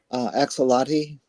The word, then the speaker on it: axolotl: The one I'm kind of stuck on right now is I can never pronounce this word. Axolotl, the salamander, the axolotl.